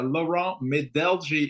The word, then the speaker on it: Laurent Medelgi: Yeah, Lauron Medeli is my name.